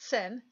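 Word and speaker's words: 心: And the one of the symbol on the left-hand side is called Sin, okay, and it's literally pronounced sin, in the beginning of it, and it's X-I-N.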